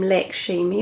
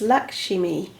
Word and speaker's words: Lakshmi: Now, one of my readers said, you don't pronounce her name Lakshmi, which I always have done. She said it's Lakshmi.